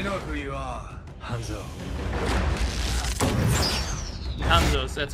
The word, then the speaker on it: Hanzo: Hanzo's, that's how you pronounce it.